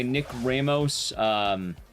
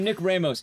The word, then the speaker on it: Ramos: Yeah, apparently he pronounces his name that way. It's dumb. He says, Nick Ramos, on duty. And it's like, Ramos? What the fuck you mean, Ramos? Ramos. Like, rock.